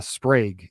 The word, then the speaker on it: Sprague: Andrew Sprague is how you pronounce it. I just learned it's Sprague, not Sprague.